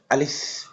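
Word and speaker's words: ألف: এই হরফটি উচ্চারণ করতে হবে যে উপরে দুই দাঁত নিচের ঠোঁটের পেট একসাথে লাগায় উচ্চারণ করতে হবে আলিফ। এটা বাতাস বের করে পড়তে হবে।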